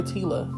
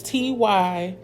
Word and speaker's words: Tyla: Because I'm like, Jaleesa, you should have went and found out how to pronounce the name. It's okay. It's Tyla.